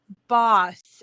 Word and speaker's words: Bos: Sue Boss. It's I don't know if it's pronounced boss, but it's BOS. No double S. It's BOS.